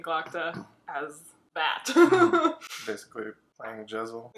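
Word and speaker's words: Jezal: Is that how you were saying it? Jezel? Yeah. How do you say it? Giselle. Giselle? Uh-huh. Why is that more correct? Because that's how the audiobook narrator says it.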